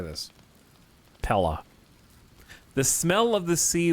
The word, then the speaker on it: paella: do you say this Pella the smell of the sea wafts gently from this warming delicately spiced dish it's pronounced prella pie a yeah why would you